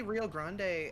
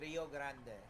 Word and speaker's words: Rio Grande: Grande and yeah so is it actually Grand yeah Rio it's Grand Denver Rio Grand West if you actually say it in Spanish it's Rio Grande I'm going to need